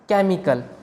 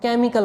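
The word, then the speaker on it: chemical: अगला एग्जाम्पल है केमिकल, यहाँ पर H के बाद E है, इसका मतलब यहाँ पर भी H साइलेंट होगा, इसको हम केमिकल बोलेंगे। इसमें भी H की कोई साउंड नहीं आएगी। अगर इसमें H की साउंड आती तो हम इसको कहते केमिकल।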